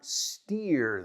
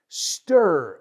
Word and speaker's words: stir: Stir the coffee, not steer the coffee. Stir the coffee, please.